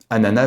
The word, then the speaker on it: ananas: arrêter avec Bob l'éponge ce mot vient du Toupi Guarani une langue amérindienne nana ananas veut dire parfumer on devrait prononcer le nom du fruit d'après son origine donc sans le son du S cependant les deux prononciations